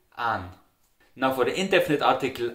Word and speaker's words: einen: So you see how the word einem, einen is pronounced very differently in Austria with simply an.